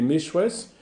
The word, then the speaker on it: Méchouès: Les Méchouès, c'est la vraie prononciation du mot que nous avons vu, Mazir.